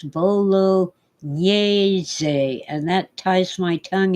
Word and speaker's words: bolognese: It isn't bolognese sauce. Italians hate it when Americans and British say that. It's bolognese, and that ties my tongue in a knot.